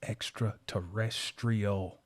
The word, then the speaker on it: extraterrestrial: Jamal, the word is extraterrestrial. It has an R in it.